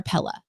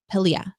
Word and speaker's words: Pelia: Is it Pelia or Pella? Pelia.